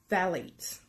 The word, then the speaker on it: phthalates: The P-H is silent and is pronounced phthalates.